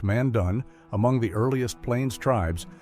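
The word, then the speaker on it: Mandan: The Mandon pronounced Mandun among the earliest plains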